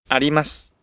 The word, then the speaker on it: あります: When a vowel becomes unvoiced or dropped, like the U in あります。 something exists, いたします。 I'll do, the intonation usually covers the preceding syllable and the accent really disappears.